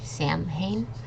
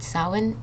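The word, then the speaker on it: Samhain: next we have Sinn I know this sounds like Sam ha but Sinn it's a holiday that's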